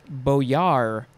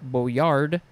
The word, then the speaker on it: boyar: mad libs next is boyar or beau yard you could spell with a d at the end or not but i don't think it's ever pronounced with the d noun from 1591 a